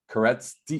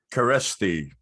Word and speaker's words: Kereszti: Kereszti. Perfect. How do you say it? It's better off if you say it. Kereszti. Kereszti. Gosh, it looks like I shouldn't even, there's a Z in there.